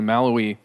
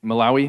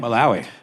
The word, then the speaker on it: Malawi: albanism are hunted in places like Tanzania and maloi or uh sorry how do you say it Malawi Malawi uh they are they're murdered because their organs